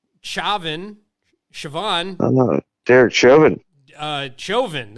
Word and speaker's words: Chauvin: Chauvin. Is that how you say it? Chauvin. Like chauvinistic.